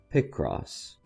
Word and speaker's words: Picross: Pick cross.